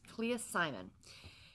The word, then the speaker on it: Clea Simon: by Clea Simon I think I said her name wrong yesterday so I do apologize but it's Clea Simon and I ended up finishing this one again